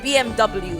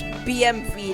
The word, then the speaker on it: BMW: Also, also it's not BMW, it's BMV. That's the correct way to pronounce it. It's the German way to pronounce it, and it's the correct way to pronounce it.